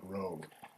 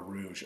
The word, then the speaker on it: Rogue: This is a 2013 Nissan Rogue. And if I hear anyone call it a Rouge or spell it Rouge, I'm going to lose it.